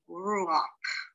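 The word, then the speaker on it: רוח: Now, when head ends a word with a patak, it is pronounced ak and not ka. So this word would be ruach.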